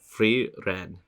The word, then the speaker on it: Frieren: of weird oh fre Fen that's how you pronounce it freen okay I'll try to remember that the guy